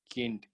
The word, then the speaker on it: Kind: So here you tell it as das Kind. Okay, you pronounce it as kind. That is not kind, that is kind.